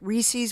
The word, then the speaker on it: rhesus: Rhesus monkeys?